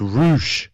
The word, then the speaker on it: Rush: andrade dante martin and to be determined it's roosh rouge it's spelled rush what is that like stokely